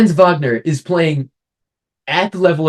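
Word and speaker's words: Wagner: friend Vagner friend Vagner I I I have German me so I have to say it right FR Vagner is playing at the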